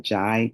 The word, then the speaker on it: Ndiaye: And the pronunciation of my name is Jai, but it's Ndiaye.